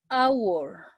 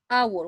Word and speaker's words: hour: to me listen to me what's the correct pronunciation for this word it is our hour one hour two hours three hours 24 hours